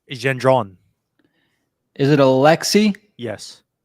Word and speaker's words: Gendron: pronunciate his name uh in French they say Gendron is it a Lexi